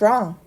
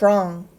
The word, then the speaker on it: wrong: 있겠습니다 자 다시 문장을 읽어 볼게요 why What's wrong 여기도 한 단어처럼 연결해서 읽어 줘야 됩니다 What's t랑 만나면 발음이 나고요 자 이거는요롱 아니고요 5가 아니라 렁이나